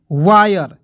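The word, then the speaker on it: wire: है हायर ठीक है जैसे वायर देखिएगा डब्लू से व तो यहां पे र भी लगा सकते हो एक नियम हो जाएगा आयर के रूप में ठीक है देखिएगा डब्लू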